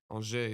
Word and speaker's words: Angers: Angers, yeah. Angers. Great pronunciation.